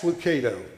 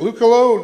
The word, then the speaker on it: Lucado: about Ministry Charles Swindoll and this guy Max Lucado I have probably heard this name mispronounced more than any other I ever known he said Luke hello no that's not Luke alone well the Cato